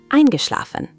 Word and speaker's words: eingeschlafen: eingeschlafen. eingeschlafen. Ich bin eingeschlafen. Got it. Perfect pronunciation that time.